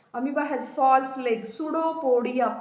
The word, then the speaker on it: Pseudopodia: Amoeba moves forward and forward with the help of pseudopodia. Amoeba has false legs. Pseudopodia. P is silent.